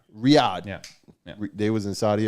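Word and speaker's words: Riyadh: Arabia is it R Ria oh it's um Riad Riad yeah they was in Saudi Arabia out there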